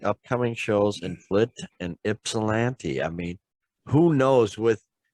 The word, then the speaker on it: Ypsilanti: It's pronounced Ypsilanti, folks.